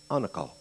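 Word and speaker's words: anacal: word spelled a n a c a l pronounced anle what does it mean Mercy quarter figuratively surrender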